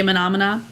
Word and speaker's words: Menomena: Anytime I say Menomina. Well, in the way they spell it, it's MENOMENA.